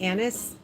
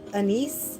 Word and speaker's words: anise: Like I don't like anis or I think it's um also pronounced anise star anise. I've heard it pronounced as but. But I'm I'm familiar with it as anis.